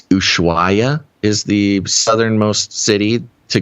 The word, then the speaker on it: Ushuaia: I think it's Ushuaia is the southernmost city to go through in Argentina to get to Antarctica.